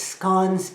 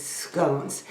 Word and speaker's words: scone: of saying it so my understanding is the English way of saying it is scon and the American way is scones ever since I heard